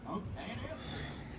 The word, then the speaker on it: Esther: How else do you pronounce it? Esther.